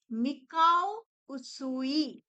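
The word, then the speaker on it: Mikao Usui: उसूई recce और यह नाम किस लिए हुआ डॉक्टर मिकाऊ उसूई नाम अच्छे से प्रोनाउंस करना बहुत जरूरी है। ठीक है? डॉक्टर मिकाऊ एम आई के ए ओ मिकाऊ यू एस यू आई उसीलिए इसको उस रेकी कहा जाता है।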